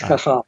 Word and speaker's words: Cajal: - Okay, but it's Ramon Y Cajal. That's pronounced Cajal.